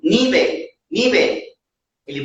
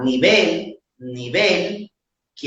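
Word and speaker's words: nivel: Por exemplo, se eu viro para o nativo e falo assim, nível, nível, ele pode não entender o que eu estou dizendo. Agora, se eu falar nível, nível, que é o certo, que é a segunda sílaba, que é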